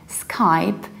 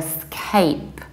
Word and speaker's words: Skype: blue as the sky we pronounce it mr. mill away Skype is like sky Skype many potential clients call me very often ask me if I give lessons over scape and then I feel